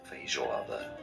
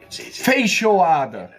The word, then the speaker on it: Feijoada: Feijoada. Feijoada.